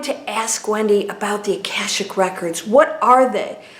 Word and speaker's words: Akashic: said it's not okay it's kasich records yes akashic akashic okay all right yeah you say tomato i